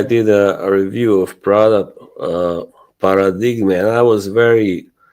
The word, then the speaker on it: Paradigma: And also, recently I did a review of product paradigm, and I was very like clear that Mhm, this is not pronounced paradigm. It is an Italian name. It's paradigma.